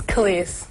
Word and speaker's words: Kelis: It's Kelis. Kelis. Yeah. It's like K-A. Well, I guess phonetically it'd be K-A-H-L-E-E-S-E. Yeah. But it's really just K-E-L-I-S. Kelis.